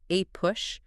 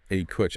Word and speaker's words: APUSH: You've got AP European history, AP US history, which by the way, the document cheerfully notes is pronounced A Push. A Push.